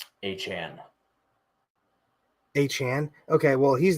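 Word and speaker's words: Achane: I always, it's not A-Chain anymore, apparently. How do you say it now? A-Chan.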